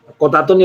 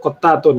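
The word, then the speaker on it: قتات: Qatatun itu bi fathil qaf, dengan fathnya qaf, qatatun ya. Wa tasydid ta al-mutanna min fawqi ba'daha alif wa akhiruha ta mutanna min fawq aidan, yaitu bacanya qatatun.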